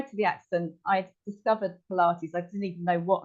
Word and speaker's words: Pilates: heard of it actually I didn't even know how to pronounce the word I thought it was pilot thought anyway so this